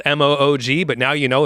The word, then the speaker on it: Moog: goes throughout and um that's performed on a Moog which is spelled m o OG but now you know it's pronounced Moog and